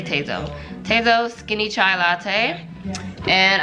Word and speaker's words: Tazo: Right now I'm loving the Tazo, how do you pronounce it? I say Tazo.